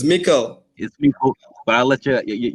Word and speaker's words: Meikle: would like to know who is mikhail hope i'm pronouncing your surname right you know just saying it's mikkel but i'll let you